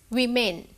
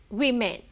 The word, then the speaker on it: women: It's women. Even though the word, the letter O is there, it's pronounced as women.